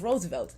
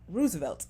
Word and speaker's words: Roosevelt: president and the president's name was Roosevelt not Roosevelt so it's like I'm justified in correcting you if you are not pronouncing something correctly or if you're just